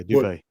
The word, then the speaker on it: Dubay: hey, much kudos to Eric Dubay or Dubai. I'm not for sure how to pronounce his name. Yeah, Dubay. Is it Dubay?